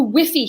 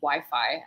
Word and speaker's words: Wi-Fi: give me the phone the whiffy here is terrible Mom it's pronounced Wi-Fi and I was just